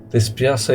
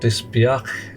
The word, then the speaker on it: dispiace: Dispiace is pronounced a little differently. The C is not mute. Dispiace.